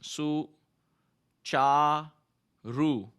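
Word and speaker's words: सुचारु: But this is not ka, the pronunciation is cha, C-H-A, right? And at the same time, whenever you see a line on top of an alphabet, the mouth opens. So the pronunciation for this would be S, U will su, C stands for C-H, su, cha, ru, right?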